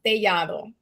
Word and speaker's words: Tellado: It's tellado, but in you can Helado? say Is it helado? Helado, you said? tellado. Telado. Okay. It's a Spanish last name, so it's pronounced tellado.